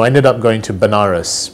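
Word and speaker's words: Benares: ended up going to Banaras which is a place in in India sometimes pronounced as venares which is a place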